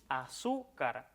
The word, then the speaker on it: azúcar: Con azúcar ocurre que a pesar de no cumplir con esta característica de comenzar con A tónica, fíjate en que la sílaba tónica está en su, azúcar.